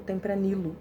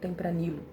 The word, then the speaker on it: Tempranillo: também é conhecido como Tempranillo ou Tempranillo. As duas formas de pronunciar estão certas.